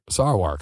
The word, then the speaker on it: Sarwark: did I say it right that time sarar SAR work SAR work okay I'm sorry about that if